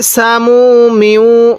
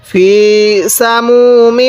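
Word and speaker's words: سموم: সামুমি হামিম কিভাবে পড়বো ফি সামুমি লাগবে মিমটি লাগবে এই তাহলে সামুমি এরকম ভাবে শিখবো একটু নরম করে উচ্চারণ করব অনেকেই টাকে জিম উচ্চারণ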